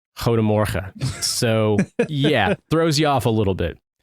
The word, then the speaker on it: Goedemorgen: However, it is pronounced Goedemorgen.